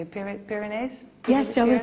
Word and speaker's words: Pyrenees: Well, my father the first 3 weeks, and we were just over the, I don't know how you say it, Pyrenees? Yes, over the Pyrenees, perfect.